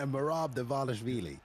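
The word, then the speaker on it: Merab Dvalishvili: Bailey, in between Jose Aldo and Bailey, help me out with the correct pronunciation. You want to give it a go, or? No, I don't. Okay, Merab Davashvili is the correct way to do it.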